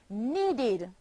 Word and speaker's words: needed: The verb need, need, becomes needed, a past tense verb, and is pronounced needed, forming two syllables, need and id, needed.